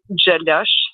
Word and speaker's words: Gjelosh: And how do you pronounce that again? Jadosh.